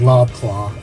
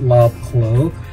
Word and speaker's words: Lobclow: of a package and I think I mispronounced his name as law cloth but it is love quo also no one has